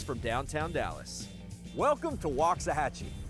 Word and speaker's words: Waxahachie: about 30 miles from downtown Dallas welcome to Loxahatchee not wax a hacci the obvious way to pronounce it Waxahachie but walk doesn't mean well